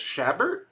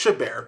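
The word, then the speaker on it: Chabert: uh I think it's I think it's shabber is it shaber actually know actually don't know how do you say her name oh it's it's shabar my bad so uh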